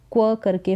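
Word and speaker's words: quack: फिर यहाँ पर QU का उच्चारण क्व करके होगा, क्व, एक, क्वैक।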